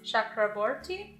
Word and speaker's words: Chakraborty: city of brass by a gonna venture it's pronounced Chakraborty don't know why I put an accent on